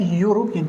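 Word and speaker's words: European: وكلمه يا مستر اوروبي دي اسمها يوروبيان كانتري، يوروبيان كانتري، يعني الاي صباح الفل مش بتتنطق اصلا، ده اليو هي اللي بتتنطق في الامتحان، هي اللي صح.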